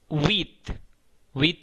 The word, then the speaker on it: huit: Huit, huit means eight. Here you have to fix the sticker, okay? Width means eight. Width. H, you know very well, H is known as H mute, and it is also a vowel.